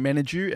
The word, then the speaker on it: Menadue: yeah everything's good we are joined with managu am I pronouncing your last name correctly yes yes you